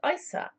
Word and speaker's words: Isa: In these languages, the name is pronounced Isa, I-S-A, meaning ice, or water in its most passive, crystallized, negative state.